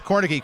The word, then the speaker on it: Kornicki: Again, I got the name correct pronunciation. It's Kornicki.